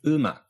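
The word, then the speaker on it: 음악: So umak isn't pronounced ak. It's pronounced umak. The first syllable is and the second one, ma, umak.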